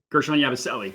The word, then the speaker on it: Gershon Yabusele: Gershon Yabusele, yeah.